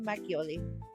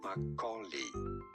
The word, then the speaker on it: makgeolli: How do you say it? Makgeolli. Makgeolli. Pretty straightforward once you know. Makgeolli. Makgeolli. So it's a K. The G is basically silent. Makgeolli.